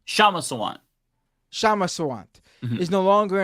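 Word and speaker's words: Kshama Sawant: Kishma Sawant, or how do you say her first name? Shama Sawant.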